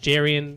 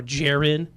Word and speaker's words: Jerian: I've heard him pronounced Jerian or Jarin, and I liked him because he's a big athletic guard.